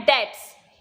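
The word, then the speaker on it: debt: migration next आपका है डेट इसे हम डालेंगे इसमें भी होता है इसमें साइलेंट होता है अपडेट्स अमाउंट आफ मनी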